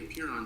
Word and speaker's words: Apeiron: And the Apeiron Center, which is spelled 8-iron, I'm in what I sometimes facetiously call the 8-iron gym.